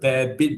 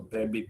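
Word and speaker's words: Babbitt: Or you want to call it bare-bit bearing also, bare-bit, B-A-B-B-I-T. Just don't misspell it as rabbit, okay?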